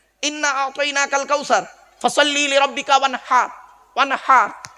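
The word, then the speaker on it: وانحر: ওয়ানহার, এই গলার ভেতর থেকে হে এটা উচ্চারণ করবেন।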